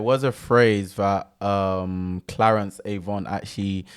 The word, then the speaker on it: Avant: to influence behind the scenes, I think Clarence Avon is definitely someone you should check out. Again, his surname is spelled Avant, so that you guys know.